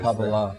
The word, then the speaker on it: Kabbalah: Is that the right pronunciation? Kabbalah.